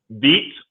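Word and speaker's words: Veatch: project engineer at black and is that pronounced beats or um how do you pronounce that last part b black and beach one of the company leaders in the water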